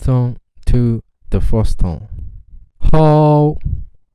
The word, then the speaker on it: 好: For example, 好. Its tone is the 3rd tone, but we can practice like this, from the 1st tone to the 4th tone. 好, 好, 好, 好.